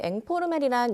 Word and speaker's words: 앵포르멜: 네, 이 앵포르멜이란 영어 인포멀의 프랑스식 발음으로 추상 미술의 일종인데요.